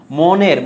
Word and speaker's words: মন: দেখো তো এখানে এই যে মন, মনের ময়ের সাথে একটা করে কি আছে বলো তো? ময়ের সাথে শুরুতে এসে অ আছে, তাহলে ওয়ের উচ্চারণটা কি হয়ে যাচ্ছে? ও হয়ে যাচ্ছে, মন।